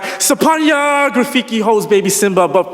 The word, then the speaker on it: Sophornya: It's Sophornya. The PH in my name is pronounced like a P and less of an F sound.